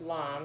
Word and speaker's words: lame: A lame, spelled L-A-M-E, it looks like lame, but it's pronounced lame, is a tool that's really just a straight razor.